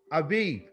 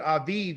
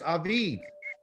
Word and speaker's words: Aviv: Abib. Okay, you pronounce it with Aviv instead of Abib.